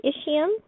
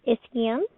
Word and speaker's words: ischium: Everything I write in pink will be a feature of the ischium, sometimes pronounced ischium.